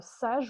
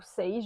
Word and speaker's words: sage: Il s'agit de la jupe short sage ou sage, je ne sais pas si on prononce à la française ou à l'anglaise, hein, S-A-G-E, de la Rose Pattern.